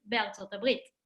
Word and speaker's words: ארצות הברית: And as we saw before, ארה"ב, ארצות הברית, USA, אז אנחנו כותבים הם גרים באלף, ר', ה', ב', but we say הם גרים בארצות הברית.